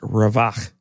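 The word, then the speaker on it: רָוַח: The Hebrew word behind relief, it's a word that's pronounced ravach.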